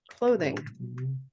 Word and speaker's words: clothing: And then the other one is clothing, where now Clothing. this is voiced.